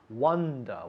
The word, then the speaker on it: wonder: And even though you can see it's written with an O, the sound is wonder.